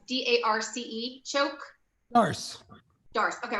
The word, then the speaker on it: Darce: First, I don't know how you pronounce it. It's D-A-R-C-E, choke.